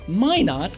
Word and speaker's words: Minot: My last name, Minot, is pronounced Minot, rhymes with why not. Why not Minot?